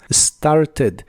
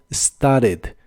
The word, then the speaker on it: started: en inglés es started se pronuncia casi como se escribe solamente que empieza con el sonido de la s started y la e del final es muy muy suave started en inglés americano es muy común que no se pronuncie la t de esta palabra Así que aunque ambas formas son correctas casi siempre la base Escuchar Como sted sted el verbo entender o